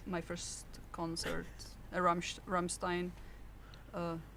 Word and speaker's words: Rammstein: And I went to my first concert, a Ram Ramstein. Uh I should say Ramstein because we're not doing the English pronunciation here.